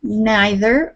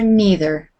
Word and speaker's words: neither: neither reach nor poor so that word neither or neither both ways of pronouncing it is correct so which whatever